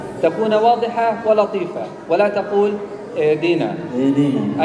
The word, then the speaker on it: اهدنا: تكون واضحة ولطيفة ولا تقول اهدنا اهدنا أين الهاء أنت أكلتها نعم لا تقول اهدنا ولا تقول اهدنا وإنما اهدنا الصراط اهدنا اهدنا اهدنا